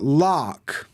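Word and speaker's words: laik: too far l l so I know it's spelled like l a i k but lck lcking lcking lcking and lcking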